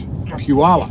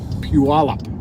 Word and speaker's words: Puyallup: can you believe it I'm told it's pronounce Puyallup Puyallup can you believe Summer's